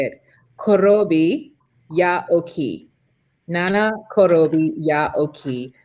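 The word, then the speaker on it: 七転び八起き: Nana korobi ya oki.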